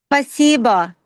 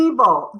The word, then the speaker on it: спасибо: Спасибо. Oh, спасибо. Спасибо. Yeah, you're doing great. Spasibo.